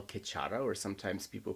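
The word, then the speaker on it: Khechara: that's the Vajriogini pure land which we call Kachara or sometimes people pronounce it Kajra.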